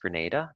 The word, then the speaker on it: Grenada: the name of a country in the Caribbean pronounced Grenada but the city of Granada is in Spain